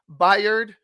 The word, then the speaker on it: Byard: Bearsky? Stop butchering his last name. It's pronounced Byard.